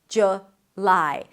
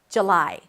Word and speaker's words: July: The American pronunciation is either a J sound, then the as in cook, look, and book. J, J, and then lie, an L sound, and then the I as in my. July. But a lot of people drop the first vowel to a schwa.